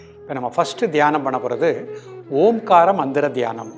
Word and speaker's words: ஓம்: இந்த ஓம்காரத்தை உச்சரிக்கும் பொழுது ஓன்னு சொல்லும் பொழுது முதுகு தண்டினுடைய கடைசி கீழ் பகுதியில இருந்து அந்த மூச்சோட்டை மேல்நோக்கி வருவதா பாவனை பண்ணி இம்னு முடிக்கும் போது தலைக்கு மேல இருந்து வந்து அப்படியே இதயத்தில அந்த இம்ங்கறத நம்ம அதிர்வலையா உச்சரிக்கின்றோம். ரெண்டு கை சின்முத்திரை வச்சுக்கோங்க.